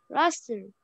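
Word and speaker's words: rustle: For example, Russell. The t is silent. Russell.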